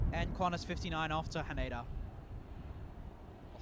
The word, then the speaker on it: Haneda: and Quanis 59 off to Haneda or Han as it should be properly pronounced.